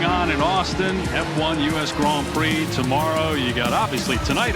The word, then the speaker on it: Grand Prix: phenomenal as you saying Grand Prix gr gr gr the D there is silent I notic touch back